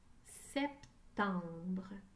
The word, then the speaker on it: septembre: mot septembre c'est peu dans la première syllabe j'entends et mais j'écris la lettre e c'est temps dans la